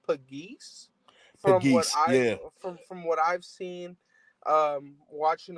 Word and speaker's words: Pegues: I think that JJ, I think the correct pronunciation is Pegues.